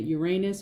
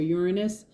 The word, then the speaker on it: Uranus: This Fool card and upright is attached to the planet Uranus or Uranus, depending on how you pronounce it.